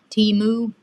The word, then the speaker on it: Temu: And but these I actually got from Temu.